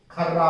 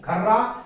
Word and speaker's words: खर्रा: ठीक है, लंबी बिल बना करके देता है, खर्रा उसको कहते हैं। खर्रा और खरा, देखिए उच्चारण में भी फर्क है, लेकिन सुनने में लगभग एक जैसा लगता है, और कभी कभी